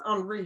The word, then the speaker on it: Henri: It's called Figure It Out, Henri Welton, or Henry, Henri will be the French I think it's Henri pronunciation, Weldon, and is by Tanita S.